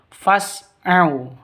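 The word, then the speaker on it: فَاسْعَوْا: Jadi bacanya fas bukan fas bukan seperti itu. Tapi fas au. A au sifat lin lentur lemas tidak boleh disentak tidak boleh dipanjangkan. Fas itu salah yang betul. Fasu ila ila panjang dua ketukan lanya.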